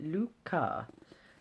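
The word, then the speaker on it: lykke: little book of like Oh Luca as it's pronounced on the back which means happiness it says on the back how to pronounce it Luca so not lucky at all picturing the Danish accent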